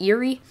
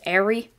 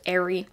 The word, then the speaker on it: Eri: would not his head a lot of you guys say it's airy and that's how they pronounce it in the anime um so i like calling it eerie but it's airy i really couldn't care